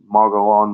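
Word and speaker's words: Mogollon: to research guys arizona the mogalon monster uh it's spelled m-o-g-o-l-l-o-n arkansas is the folk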